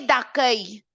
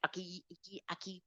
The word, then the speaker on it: d'accueil: Pays d'accueil, société d'accueil. D'accueil is a pronunciation, guys. Don't get this wrong, please. Don't say accueillir, aki, whatever.